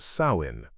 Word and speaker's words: Samhain: The most important and most ominous was Samhain, pronounced Samhain.